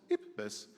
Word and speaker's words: IPBES: If you think about, in German, it's Schluck auf, it's IPBES. That's how you can keep in mind the name, how it's pronounced in the right way.